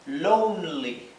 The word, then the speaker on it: lonely: I feel Lonely Lonely Recuerden que cuando tenemos una vocal seguida de una consonante y luego otra vocal más la vocal esta adquiere el sonido largo la pronunciación larga o sea esta o en vez de ser el sonido corto de o es el sonido largo ou Así que esto es Lonely Lonely estoy solo me